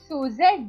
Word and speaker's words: Suzette: So, It is Suzette, dear.